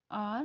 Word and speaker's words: hour: तो इसका उच्चारण जब हम करेंगे तो इसको बोलेंगे आर, इट्स आर।